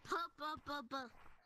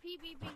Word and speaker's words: pbbv: You said pbbbv. pbbbv is mad. pbbbv. No, you're saying it wrong. It's pbbv. Join code WHY.